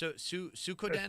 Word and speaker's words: Suikoden: It's Suikoden. called Suikoden.